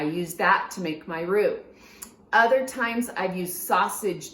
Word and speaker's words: roux: Now we're gonna start with the roux.